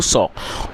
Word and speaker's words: saw: और दोस्तों, कई आप में से कई लोग इसको शायद सा पढ़ते होंगे, तो जो करेक्ट प्रोनाउंसिएशन है वो है सॉ। तो आप इसको सा ना पढ़ें, आप इसे सॉ पढ़ें।